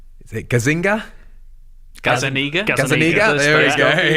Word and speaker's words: Gazzaniga: Gazzaniga.